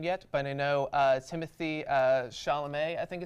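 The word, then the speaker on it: Chalamet: by your name yet but I know Timothy sha'lame I think it's pronounced has been getting a lot of buzz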